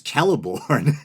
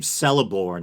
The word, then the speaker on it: Celeborn: a hard C or a K, at least at the beginning of words or names. So I believe Celeborn is supposed to be Celeborn, I think.